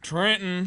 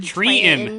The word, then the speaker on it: Trenton: Okay, so the town that I grew up in, called Trenton, is not pronounced that way there. Trenton. Treaton. Treaton. No way. There is no T. There is no second T, and it's an EN.